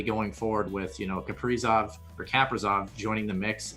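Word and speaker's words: Kaprizov: build on moving forward yes we did get the pronunciation correct it is capricious that's what he's going with so that'll probably change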